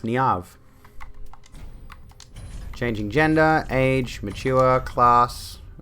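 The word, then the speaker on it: Niamh: I haven't spoken to her in ages, but that's pronounced Niav.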